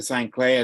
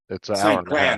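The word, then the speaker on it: St. Cloud: uh traveling time to Sinclair then what do you mean how far do you you said you're going to Sinclair yeah it's uh Saint Cloud oh sorry yeah I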